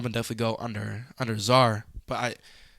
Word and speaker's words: Czar: and I was seconding her like oh it's Zar she was like oh like Tony Zar and